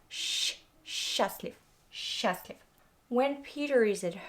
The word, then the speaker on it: счастлив: Mind how I pronounce the word счастлив. Not счастлив, but счастлив.